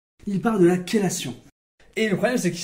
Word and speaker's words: chélation: C'est parce que ça vient du grec. Et en grec, en fait, ça se dit chélé. Chélé, c'est difficile à prononcer pour les Français, et du coup, on a préféré dire ké.